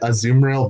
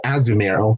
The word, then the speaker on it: Azumarill: some people I mean I've always called it a zoom rail but apparently the official pronunciation is as numeral but you know what they say tomato tomahto